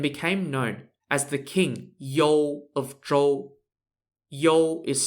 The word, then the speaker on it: You: known as the king yol of troll yo is spelt y-o-u and it's kind of pronounced similar to yo as in yo yo what's up mahomeiji king